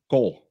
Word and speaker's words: gård: But in Danish, two A's next to each other is an O. It will be pronounced "gård," and that means farm.